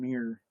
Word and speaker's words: Muir: Muir. Say it like red. Say a mirror, but more redneck.